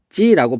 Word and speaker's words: 닫지: 얘는 발음하면 닫지라고 발음이 돼요. 그래서 얘는 이 디귿. 얘는 보면은 디귿 뒤에서 어떻게 발음되냐면 여기 니은이 아니고 디귿인데 선생님 잘못 썼어요. 여기 디귿 여기 잘못 썼어요. 그래서 디귿 뒤에서 뭘로 바뀌냐면 지읒이 쌍지읒으로 바뀐다. 그래서 지읒까지 바뀐 예까지 지금 살펴봤습니다.